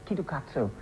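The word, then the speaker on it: キットカット: reason why is because kitkats pronounced in Japanese it's ketokatsu which means good luck and actually what they've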